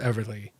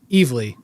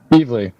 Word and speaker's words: Evely: All right, and with this, the Golden Burrito Award for Best Mini goes to Helen of Windhorn, Tom King, and Bilquis Everly. Evely. Nice. Evely.